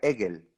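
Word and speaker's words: עגל: La palabra becerro en hebreo se dice Egel. Y Egel se compone de 3 letras. Ain, Gimel, Lamed. se pronuncia Hegel.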